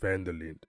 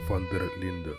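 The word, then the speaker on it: van der Linde: crossed paths with Dutch vanderland or the correct pronunciation Dutch fer Linda at this point Charles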